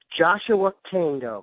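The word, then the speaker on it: Joshua Kaindoh: Joshua Kando. Did I pronounce that correctly?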